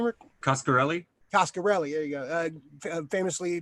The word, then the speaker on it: Coscarelli: How you pronounce his name, Rick? Coscarelli.